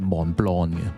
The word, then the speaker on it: Montblanc: A lot of people might not get the pronunciation right, so remember to include that 'L' sound and don't say 'montbanc'. So, everyone should be saying Montblanc.